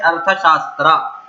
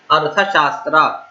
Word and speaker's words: अर्थशास्त्र: कौटिल्य ने जो लिखा है हिस्ट्री, ठीक है, कौटिल्य ने जो हिस्ट्री लिखा है उसे क्या कहते हैं, अर्थशास्त्र। अर्थशास्त्र, ARTHASHASTR, अर्थशास्त्र। अगर प्रोनाउंसिएशन सही होना है, सही समझना, तो बार-बार इस वीडियो को, इस पार्ट को रिपीट करके देखिए।